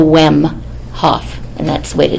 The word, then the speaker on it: Wemhoff: It's the easiest way for everyone in the room is pretend that first H isn't there, and just go Wemhoff, and that's the way to do it.